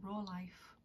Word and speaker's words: Rolife: was by company called I think you pronounce it raw life raw life um and this one's